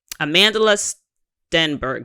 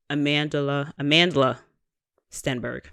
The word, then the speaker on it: Amandla Stenberg: Amandla Stenberg. That's how you pronounce it, right? Stenberg? Yeah, that's what I'm reading. Oh, even bigger here. Amandla Stenberg.